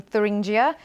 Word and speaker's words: Thuringia: from a polling booth in thuringia or turingan if you fancy the German uh more German pronunciation uh but what do